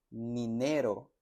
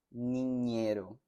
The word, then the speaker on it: niñero: Dañar, niñero, teñir, niño, pañuelo. Noten la diferencia entre la ñ y la n. No es danar, es dañar. No es ninero, es niñero.